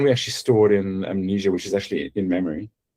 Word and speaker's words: Mnesia: When I say amnesia, it's spelled M nei.